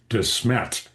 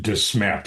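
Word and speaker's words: Desmet: I call him Brahm Dismmet because that's the Belgian pronunciation of the name right he he is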